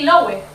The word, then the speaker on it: Loewe: Loewe.